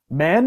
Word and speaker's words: man: So man is like an ah sound. Actually, it's like apple, apple, cat, at, man.